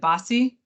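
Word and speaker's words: BAWSI: is it pronounce so when we say the the acronym is it bossy bossy yeah we bossy kids yes okay awesome I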